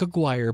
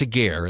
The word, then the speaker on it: Aguirre: It looks like Aguirre, but it's Aguirre. At least that's how they pronounce it in the movie.